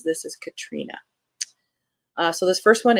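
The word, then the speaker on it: Catriona: series uh by Katrina mcferson and yes that is pronounced Katrina I sat next to this author at a mystery book convention and uh I asked her how to pronounce it and she says this is Katrina uh so this first one is after the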